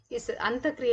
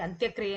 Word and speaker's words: ಅಂತಃಕ್ರಿಯೆ: ಸಮಾಜಶಾಸ್ತ್ರದಲ್ಲಿ ಬಳಸಲಿಕ್ಕೂ ಸಾಕಷ್ಟು ವ್ಯತ್ಯಾಸಗಳಿವೆ ಕೆಲವೊಂದು ಸತಿ ನಾವು ಈ ಪದವನ್ನು ತಪ್ಪಾಗಿ ಕೂಡ ಉಚ್ಚಾರ ಮಾಡ್ತೀವಿ ಅಂತಕ್ರಿಯೆ ಅನ್ನೋದನ್ನ ಅಂತ್ಯಕ್ರಿಯೆ ಅಂತೀವಿ ಇಟ್ has different meaning actually so ಹಂಗಾಗಿ ನಾವು ಈ ಪದವನ್ನ ಅಂತಃಕ್ರಿಯೆ ಅಂತ ಪ್ರೊನೌನ್ಸ್ ಮಾಡಬೇಕು ಸೊ ಹಾಗಾದ್ರೆ ಈ ಸಾಮಾಜಿಕ